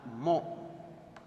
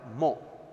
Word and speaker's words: mho: Ohm is pronounced in opposite order mho, and it has got one more unit that is known as Siemens.